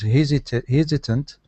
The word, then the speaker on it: hesitant: So stress at the beginning.